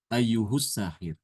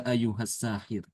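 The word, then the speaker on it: أَيُّهَ السَّاحِرُ: Ini kalau Imam Ibnu Amir kita membaca dengan dhamah ya. Kalau di wasal ayyuhus saahir kalau hafazkan ya ayyuhas saahir.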